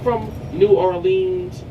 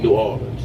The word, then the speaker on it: New Orleans: from New Orleans okay we don't really say it like that most locals we kind of like drop the OA it's kind of like a aw New Orleans okay all right cool